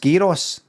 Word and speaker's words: gyro: There's no gyros in the Greek lexicon. I would never fucking say that. I would never say that, mate. I would never say that. I would go with your pronunciation every fucking time. As the Greek dictionary. It's all ye, ro, you gotta roll your R's when you...